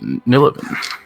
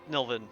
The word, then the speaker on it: Nillivan: All right, so if you're blocking your path, you get to go first, Nillivan. Nilvin. Nillivan, sorry. It's There's an A in there. The A is silent. Nillivan, but Nilvin works fine.